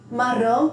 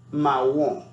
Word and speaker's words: marron: La pronunciación es realmente similar al español, pero requiere suavizar un poco la R, ¿bien? Y la nasalización al final se reduce. Marron.